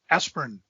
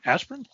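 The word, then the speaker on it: Asprin: hardcover copy of myth adventures by robert lynn aspirin i saying that right is that how you pronounce his name aspirin yes this is the actual book not the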